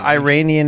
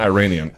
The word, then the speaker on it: Iranian: know who my favorite Iranian in the world is it's not Iranian Iranian please say it right say it [ __